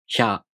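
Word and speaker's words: ひゃ: For example, hya, hyu, hyo. These are pronounced with the sh sound plus a, u, o.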